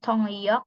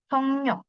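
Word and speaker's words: 통역: kemudian penerjemah hongyoksa nah ini bacanya bukan tongyok tapi tongnyok tong nyok tongnyok ini penerjemah yang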